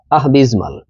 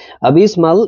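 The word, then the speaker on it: abysmal: ঠিক আছে তাহলে দেখুন প্রথম আ তারপর হল বিস তারপর হল মাল একসাথে করলে আহবিজমাল আবিজমাল এটাও এডজেক্টিভ মিনিং হল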